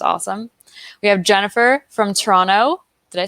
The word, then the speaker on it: Toronto: we have jennifer from toronto did i say that right without you know saying toronto i know that people from toronto generally don't pronounce the second t welcome thanks for joining